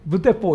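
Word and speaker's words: 無鉄砲: 철포 라는 말이 있거든요 이무 철포 라는 말이 있는데 물 처 무 철포 라는 말에 그 1분씩 발음이 무대포 라 그래요 그러니까 이거 한자 로 묻자 읊은 데 이게 일본어로 발음하면 무대뽀 이렇게 되나 봐요 그래서 옛날에는 근데 이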